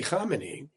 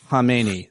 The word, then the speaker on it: Khamenei: You mentioned Khamenei. The K is silent. It was silent.